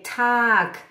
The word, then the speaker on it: Tag: Já entendi a pronúncia, já sei que é Tag, né? É Tag.